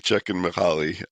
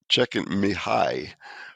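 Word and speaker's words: Csikszentmihalyi: So, it's Mihali Czech and Mahali. Uh, which some people pronounce check mihi, which I don't think that's actually how you pronounce it, but you know, it's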